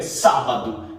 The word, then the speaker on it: sábado: ou uma palavra proparoxítona a palavra proparoxítona é aquela que possui uma acentuação gráfica na antepenúltima sílaba última penúltima antepenúltima um exemplo que a gente tem clássico é sábado que tem acento na sílaba tônica que está na diminuição a primeira sílaba não é verdade olha